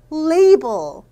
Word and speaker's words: label: label. 요 a 발음은 요 ei 발음이 됩니다.